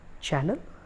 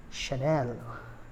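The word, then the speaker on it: Chanel: इस French brand को बोलते हैं चैनल। क्या इसको चैनल बोलेंगे? इसका करेक्ट प्रोनाउंसिएशन है शनेल, शनेल, शनेल, वो जो बोलते हैं शनेल। फ्रेंच वर्ड है तो यू हैव to feel like France और यू हैव to give the essence of French.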